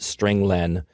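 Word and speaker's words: strlen: appears at line nine i pronounce it string len because it means string length it returns the number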